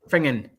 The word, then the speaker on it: Finnan: There's a place called it's pronounced Fingen, but it's actually spelled Finnan, and it was an area which runs for a place called Petarch over to sort of like to Bankery.